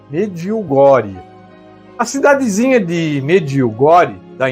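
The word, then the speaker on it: Medjugorje: Se escreve Medjugor, mas se pronuncia mediugore. Mediogori.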